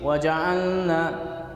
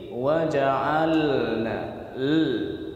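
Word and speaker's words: وجعلنا: dari hidung semuanya maka akan berbunyi seperti ini waja'alna waja'alna tapi yang benar adalah mengaktifkan pinggir lidah bagian depan tempat pelarian lam ketika tertumpu di ujung Dina maka bunyinya kurang lebih menjadi wajah alna Leni dinampakkan Kalau ndak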